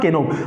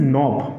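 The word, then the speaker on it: knob: हैं इसको केनो नो दिस इज नॉट केनो this is नोब this is व्ट this is नोब clear हां इसको बोलिए फटाफट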